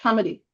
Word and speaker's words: committee: But if you were to place stress on the first syllable of committee, it would sound like comedy.